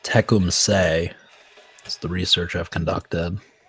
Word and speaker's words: Tecumseth: attack so I'm now learning that it's pronounced teum say is the research I've conducted the last couple